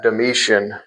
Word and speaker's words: Domitian: And so the legend is, there's a legend that the Emperor Domitian, Domitian, I pronounce that Domitian, but there's a legend